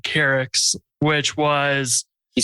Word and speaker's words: Keryx: It was also my first open source project called Keryx, which was... Can you spell it?